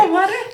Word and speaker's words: alma mater: Alma mater? Yes, you did say it right. Alma mater?